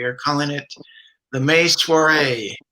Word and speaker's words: soiree: We are calling it the May Soiree, which rhymes when you say soiree right. When you say it wrong, it doesn't rhyme.